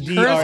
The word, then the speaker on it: Ghidra: It's Ghidra.